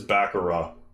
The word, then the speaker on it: baccarat: I know it's spelled Baccarat, and I've said Baccarat in the day, but it is Baccarat, or closer to that.